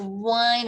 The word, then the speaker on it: whine: To complain, to whine, just like the drinking wine, the same pronunciation, but it has an H in between W and I.